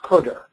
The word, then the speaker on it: cdr: the cter CDR and it's pronounced cter now uh these names